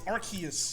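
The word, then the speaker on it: Arceus: is it pronounced Omar it's not AR it's archus arus Arc like Noah's Arc okay like Noah's AR not ARS as an ass why would that be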